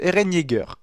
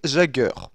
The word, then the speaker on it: Eren Yeager: Pour commencer, on va parler de l'erreur dont je suis le moins fier, la prononciation de Eren Yeager. Car oui, j'ai réussi à me tromper et dire Jagger.